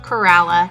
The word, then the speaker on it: Corolla: Yes, it's actually pronounced Corolla, not Corolla like the car.